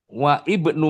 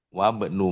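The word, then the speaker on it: وَابْنُ: ada ibnun Tapi begitu wa ibnu Maryam apa bacanya apa? Wabnu Maryam wa imroatuhu.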